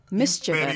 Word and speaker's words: mischievous: Yeah, that's what mischievous is. I like it. Great. You overpronounced the chi. Mischievous.